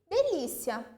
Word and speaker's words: delícia: Delícia, uma proparoxítona. De-li-ci-a. Li é a sílaba tônica.